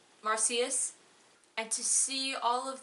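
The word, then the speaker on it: Marsyas: back into the world of marcius Island it pronounced marcius and to see all of the children again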